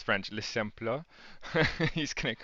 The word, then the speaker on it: Les Simples: so you're just if you want to tell people a little bit about Le Simple, or can you pronounce it Yeah, for me?